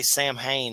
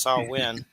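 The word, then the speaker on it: Samhain: some creepy saw win I always say sam Hayne that's not how you say it it's saw win Sam Hayne I'm from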